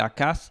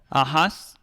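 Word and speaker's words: Ajaz: Eh, yo pienso más bien que es a, ¿verdad? Ajá. Porque esto se puede pronunciar como una h que que puede llegar a ser el el el la jriega. Después Ajas, que sería el correcto, la los testigos de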